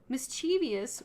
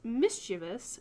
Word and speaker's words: mischievous: is not a word mischievous with four syllables is not how you're supposed to pronounce this it's pronounced mischievous with three syllables I had no idea